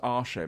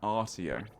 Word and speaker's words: Artio: It's not pronounced Arsho, man. The chat always tells me it's pronounced Arsho. No, it's pronounced Artio.